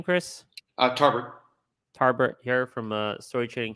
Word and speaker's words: Tarbert: Tarbert.